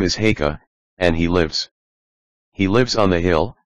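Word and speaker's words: Haigha: His name is Haka." He pronounced it so as to rhyme with mayor.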